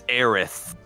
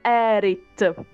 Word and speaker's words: Aerith: we we call it erit with the t because in italy we pronunciate the t okay for example so